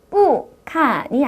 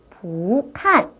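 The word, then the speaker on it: 不看: 자이 발음은 칸이라고 있습니다 뿌 칸이 아니라 위로 올라가 져야 합니다 부칸 부칸 자 어떤가요 뒤에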